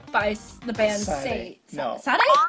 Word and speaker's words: Sade: Sade? No, Sade. Sade? Sade. Is that how it's pronounced? Yes, Sade.